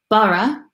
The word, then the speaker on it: borough: equivalent in England and how do you pronounce it bara interesting borough because in